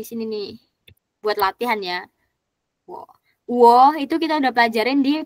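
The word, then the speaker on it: 我: Wo itu kita udah pelajarin di pinyin, dibuka lagi ya pinyinnya tadi yang bab 1. Wo dibacanya WO.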